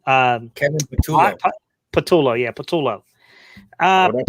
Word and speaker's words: Patullo: Patullo, yeah, Patullo.